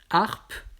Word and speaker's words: harpe: Le H aspiré, harpe, la harpe. Je ne peux pas dire l'harpe, c'est faux.